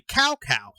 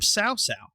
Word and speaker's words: Cao: For years, I used to say Cao, because his name is spelled Cao. And actually the first, I'd say, 4 or 5 Dynasty Warriors, they say his name is Cao. And then during one of the games, they start calling him Cao.